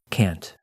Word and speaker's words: can't: positive form can instead in North America we always pronounce that a vowel pretty clearly and the word can't is stressed and yet I can't